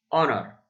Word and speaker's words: honor: to meet the queen that's of course because the h is not pronounced so we say the o directly the same rule applies